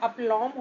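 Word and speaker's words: aplomb: meaning है अपलम अपलम guys यह जो बी है इसमें यह साइलेंट है तो इसको लिखते अपलम है लेकिन जो इसका करेक्ट प्रोनंसिएशन है वह अपलम होता है बी इसका साइलेंट है और इसका मतलब होता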